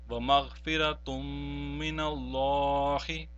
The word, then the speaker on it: وَمَغْفِرَةٌ مِّنَ اللَّهِ: of all mushaddad, and we will not pronounce the noon sakin or noon tanween. In this case, therefore, the noon tanween will not be pronounced, but the mim mushaddad which is following that will be pronounced and prolonged as well.